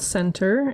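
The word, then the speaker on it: Sentur: Um the app is called Center. It's spelled s e n t u r.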